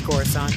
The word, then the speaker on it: Coruscant: It's Coruscant.